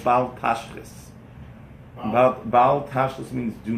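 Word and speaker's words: תשחית: Okay, But Baal Tashchis means do not waste.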